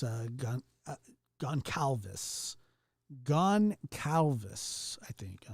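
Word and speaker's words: Goncalves: mad at me oh yeah yeah it's uh Gone Calvis gone Calvis I think I don't know Khan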